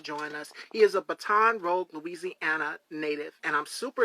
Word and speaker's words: Baton Rouge: So, you were born in Baton Rouge, Louisiana, if I'm not mistaken. Is that correct? Well, it's pronounced Baton Rouge.